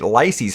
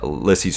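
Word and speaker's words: Lisey's: story releases today and yes i realize i've been saying it lysey's story i've been saying it wrong for like a decade plus now uh there was a little short advertisement that apple put together with stephen king actually talking about it and he kept calling it uh lissy's story and i was like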